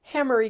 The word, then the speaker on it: Hamari: Hammery guys is pronounced hammery.